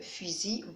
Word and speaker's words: fusil: La même chose pour la lettre L, est une lettre muette.